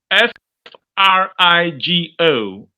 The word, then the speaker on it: frigo: we go say free go free go IS F r i g o f r i g o that's frigo it means fridge is that understood yes free girl is what f r i g o which means fridge uh refrigerator refrigerator is refrigerator